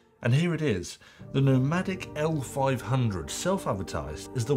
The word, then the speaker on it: Nomvdic: the only thing is their company nomadic is actually spelled like this nvic but it's pronounced nomadic which could lead to